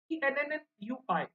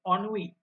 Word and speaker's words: ennui: And remember one thing, the word is ENNUI, ठीक है, but the pronunciation of this word is ennui. Okay, the spelling is ENNUI, but the pronunciation of this word, guys, is ennui.